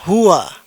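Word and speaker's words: هو: Jadi ini yang pertama ini dibaca hua dia satu orang laki-laki.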